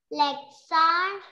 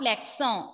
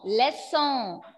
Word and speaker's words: leçon: Le garçon, le reçu, la leçon. Not leçon, lesson.